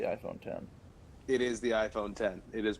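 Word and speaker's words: iPhone X: think it's the iPhone 10 it is the iPhone 10 it is pronounced 10th but there's no nine correct your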